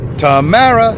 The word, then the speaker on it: Tamara: I don't really love her, but, it rhymes with tomorrow. Tamara.